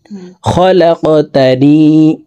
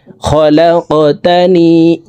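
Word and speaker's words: خلقتني: আল্লাহুম্মা আনতা রাব্বি লা ইলাহা ইল্লা আনতা খলাকতানি। খলাক, লাম কফ জবর লাক, কফ কলকলার হরফ উপরের দিকে ধাবিত করে ধাক্কা দিয়ে উচ্চারণ করব। খলাকতানি, খলাকতানি ওয়া আনা আবদুকা।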